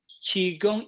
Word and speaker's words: Qigong: Qigong is the two words. Qi is Qi, but some people spell it CHI. Qi, it means air.